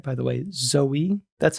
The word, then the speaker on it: Zoe: Zoe.